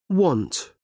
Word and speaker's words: want: Pronunciation want and won't. One o want.